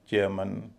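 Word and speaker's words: chairman: इसी तरह batsman, चेयरमैन, वॉचमैन, ह्यूमन, इन सब में MAN का उच्चारण मन होता है।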